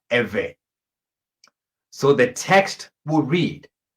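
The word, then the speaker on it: Ivri: In English, you will spell this I-V-R-I, and it's pronounced Ewe.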